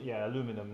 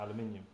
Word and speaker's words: aluminum: No, aluminum, not aluminium.